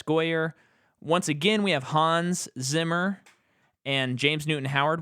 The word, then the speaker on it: Hans: pronouncing it yeah uh like maybe because he's British they say hands oh man but I've always I've always ever known for German Hans as an American yeah that's what I've always known I wonder if it's just a look up the German pronunciation it might be hands yeah I think it's Hans the score to this